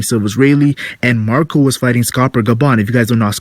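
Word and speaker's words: Scopper Gaban: third guy we know his name is rhymes with copper kind of the gold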